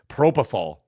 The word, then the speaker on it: propofol: We need Propofol for that. How do you say it? Propofol. Propofol. It's like prop and then O-F-O-L. That would be Propofol.